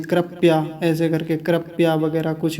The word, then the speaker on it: कृपया: हैं, कृपया ऐसे करके, कृपया वगैरह कुछ भी चलता रहता है, गलत उच्चारण। तो कृपया नहीं है, कृपया। कृपया, देखिए प पूरा है, आधा नहीं बोलना।